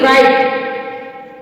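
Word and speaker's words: write: है ड फिर है डब्लू आर आई टी राइट रेट रेट राइट अब जो देखेंगे हम डब्लू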